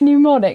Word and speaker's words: Mnemonic: Is it not pronounced mnemonic? No, it's mnemonic. M-N-E.